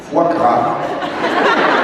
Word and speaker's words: foie gras: Foie gras. It's French.